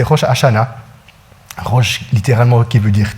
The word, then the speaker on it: Rosh Hashanah: Il n'y a peut-être pas le Rosh Hashanah, il y a un petit peu le R, mais c'est Rosh Hashanah.